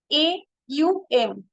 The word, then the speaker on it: Aum: but vast in meaning only two letter O M actual pronunciation is a u m so only three letter